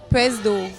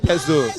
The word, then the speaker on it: pseudo: Pronounce this word. Do. What? PSEUDO. A big one. Really? Yeah. It's not PSEUDO.